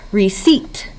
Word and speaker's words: receipt: say that word together receipt receipt it has two syllables your first syllable is re-roof e your second syllable is feet but it looks like C looks like seeped your first sound is